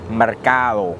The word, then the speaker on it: Mercado: We're here at Red Mesa Mercado.